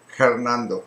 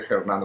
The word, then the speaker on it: Hernando: things like that and we don't pronounce the hes for example and the it's funny because I have my friends who are called Hernando and we don't say Hernando we say Hernando no the your friends